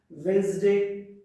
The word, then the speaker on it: Wednesday: Now silent letter D. So silent letter D has got certain words like sandwich, Wednesday, handkerchief. We don't say handkerchief. We should say handkerchief. We should say sandwich. We should say Wednesday.